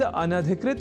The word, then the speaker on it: अनधिकृत: तो यह शब्द अनधिकृत इस रूप में ही है। सर्वथा शुद्ध।